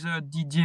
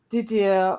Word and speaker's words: Didier: My channel is a Didier photography. Okay. How do you say the first word? Didier. Didier. Yeah, it's French. Didier.